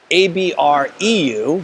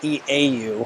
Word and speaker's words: Abreu: It is Abreu, right? So it's not Eau. However, there is precedent to say it both ways, right?